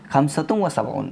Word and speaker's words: خمسة وسبعون: Arabic में इसको हम पढ़ेंगे खमसतुम व सबऊन।